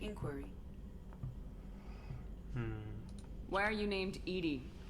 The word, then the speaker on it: EDI: why are you named Edie Edie is the phonetic pronunciation of EDI that is an acronym for enhanced defense intelligence